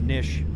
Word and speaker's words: niche: A lot of people don't know how to pronounce niche. It's just like fish.